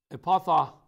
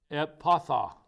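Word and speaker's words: Ephphatha: And looking up to heaven, he sighed and said to him, Epatha, I can't pronounce this word, E-P-H-P-H-A-T-H-A, Epatha.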